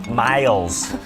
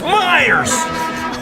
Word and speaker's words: Meyers: properly in chicago monday PA announcer was calling him miles over and over so after a foul Meyers decide taking his own hands it's Myers hey Liars get it